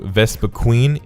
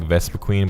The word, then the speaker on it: Vespiquen: And Combee evolves into Vespiquen. Yes, I say it like Vespiquen, but apparently it's pronounced Vespiquen. So, or Vespiquen. Anyways, Combee can only evolve into Vespiquen, if it's a female.